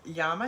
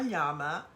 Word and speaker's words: llama: So I know that here in America we pronounce llama as llama, but I have always, Spanish is my second language, so we pronounce it as llama. So that's why I always say llama instead of llama.